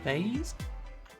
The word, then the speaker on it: vase: Love the correct pronunciation of the word vase. You would say vaz.